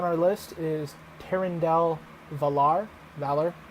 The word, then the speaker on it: Valar: Valor is how he says it, but it's spelled Valar with V-A-L-A-R.